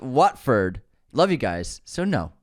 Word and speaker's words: Watford: People are still really upset about this pronunciation. Wetford? You mean Watford? Pronounced Watford.